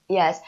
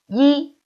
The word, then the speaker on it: 一: one is what's this it's a number right yes it's a number ye so when we say a number we we should pronounce it as first home and the second